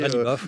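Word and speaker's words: Ghalibaf: Mohamed Bagher Khalibaf, c'est vous qui venez de m'apprendre à prononcer Khalibaf, oui.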